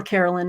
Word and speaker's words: Caroline: So, or Carolyn. I think in the TV show she was always Caroline. So that's how I pronounce it.